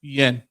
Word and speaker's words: Guillen: Guillen. Guillen? Guillen, yeah. Anybody familiar with Vanessa Gillian or Guillen? Vanessa Guillen.